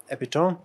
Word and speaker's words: epitome: Epitome.